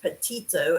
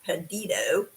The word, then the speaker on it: Petito: pedito i have been told that it's not pronounced potito it's pronounced pedito anyway m case and of course her former